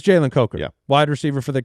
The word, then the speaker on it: Jalen Coker: Because our producer may have said his name wrong at one point in time. Oh, But yeah. Jalen Coker he's just one of those guys you watch play and Change you're like, the vowel sound.